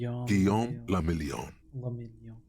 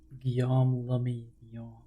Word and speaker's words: Guillaume le Million: Guillaume le Million. If it doesn't rhyme, you're not pronouncing it right. Guillaume le Million.